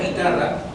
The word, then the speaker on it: guitarra: Cuando ustedes pronuncian la palabra guitarra, en la sílaba i, ¿pronuncian las dos vocales o no? No, pronuncian solo una que es la i.